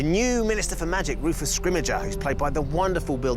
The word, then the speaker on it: Scrimgeour: ...and we're going with "Scrimgeour."